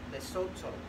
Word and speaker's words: Lesotho: It went to the Golden Lion Film Festival in Africa, and I got a letter from the president of Lesotho, I believe is how you pronounce the country's name, and he said, thank